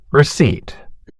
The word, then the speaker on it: receipt: Receipt. A printed piece of paper showing that money was paid. Features a silent letter P.